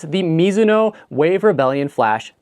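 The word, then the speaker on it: Mizuno: My next option may surprise some people, but it's the Misuno Wave Rebellion Flash 3. And yes, that is how you say it. It is a Japanese last name.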